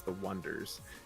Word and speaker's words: Oneders: Yeah, it was called The Wonders, but it's spelled Oneders. So it's The Wonders.